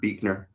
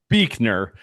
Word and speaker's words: Buechner: They're brilliant but Buechner, by the way, does not look like how you would pronounce that, just so you know.